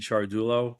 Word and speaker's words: Ciardullo: It's actually It's I know it's hard to pronounce the last name. It's actually Charardullo.